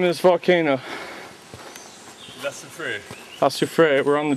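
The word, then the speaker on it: La Soufrière: La Sufriere.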